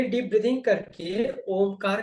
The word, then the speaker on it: ओम: तो जैसे ही हम ओ शुरू करेंगे, जब तक ओ चलता है तब तक आपके कंधे और छाती रिलैक्स होंगे। और जैसे ही पेट अंदर जाना शुरू होता है, वहां से म शुरू कर देंगे, तो ऑलमोस्ट सिमिलियर होगा।